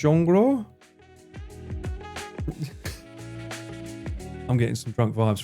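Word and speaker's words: 종로: I'm hearing a lot of like Jong written Jongo. It's actually pronounced Jongro.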